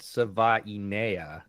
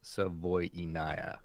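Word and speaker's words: Savaiinaea: I had I had Sava and it's Savoaya. So, we're getting there.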